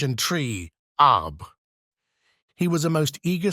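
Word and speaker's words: arbre: in the same way he was taught to pronounce ape singe and tree AB he was a most eager student and in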